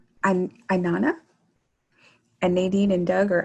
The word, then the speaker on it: Inanna: It's Inanna, so like Inanna. at the top, but Inanna. I get some very interesting pronunciations of it.